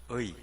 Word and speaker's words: 의: 의. 경상도 사람들이 의 발음이 잘 안 됩니다. 그래서 이, 뭐 이렇게도 발음하는데요. 저는 잘 됩니다.